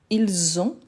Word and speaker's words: ils ont: Parce que le S, normalement, il n'est pas prononcé. Mais quand après, j'ai un mot qui commence par voyelle, donc on fait la liaison, donc il a le son de Z.